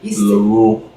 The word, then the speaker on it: Laurent: Lauron. Salon. Eve St. Lauron. Laurent. Elor. E. Laurent. Don't be pronouncing the T. Lauron.